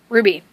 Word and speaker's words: RWBY: so yeah number nine ruby not spelt r-u-b-y it's spelled r-w-b-y in all caps being it as it